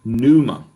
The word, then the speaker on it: pneuma: panel map okay now pneuma we would probably pronounce it numa in in english right so pneumonia pulmonite